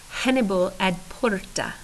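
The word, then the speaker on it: Hannibal ad portas: double checked it and if I really want to pronounce it like I just heard it pronounced it would be Hannibal at Porter so there you go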